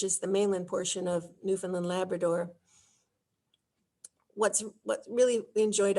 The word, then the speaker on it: Newfoundland: Pronounced Newfoundland, because we want to see Grosse Moorne National Park.